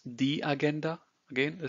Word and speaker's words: Agenda: So it's the agenda. Again, the spelling is the same, but the pronunciation is different. So it's agenda and not agenda or agenda in German.